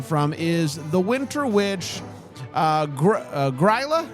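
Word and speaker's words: Grýla: got this information from is the Winter Witch, Gryla? How do you say it, Alonzo? Grilla? Grilla.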